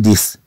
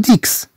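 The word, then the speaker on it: dix: اما اذا كانت الكلمه لوحدها نقول ديس، ولا نقول ديكس كما نلاحظ، نقول ديس ولا نقول ديكس، على عكس ما يجب أن يكون.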